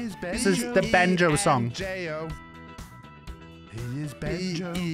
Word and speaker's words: Benjo: One thing I've noticed is a lot of people get Benjo's name wrong. They call him, they call him Bango, they call him Binjo. But here I am to teach you today how to say his name properly.